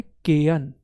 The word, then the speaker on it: Cayenne: इसकी जो राजधानी है इसका नाम है केयन। क्या है इसकी राजधानी का नाम? केयन। इंग्लिश में स्पेलिंग याद रखना, CAYENNE।